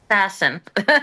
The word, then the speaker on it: Saasen: And now, Sassin, is that how Sassin, how do you say your last name? Sassin. My ex-husband was Dutch. Okay. It sounds like you're sassing somebody.